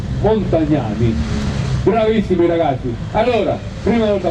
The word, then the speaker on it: Montagnani: Roberto Galuzzi, Andrea Monte, come si pronuncia questo qua? Montagnani. Montagnani, bravissimi ragazzi.